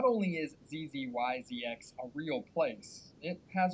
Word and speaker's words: Zzyzx: Not only is Zzyzx a real place, it has a real pronunciation, Zzyzx.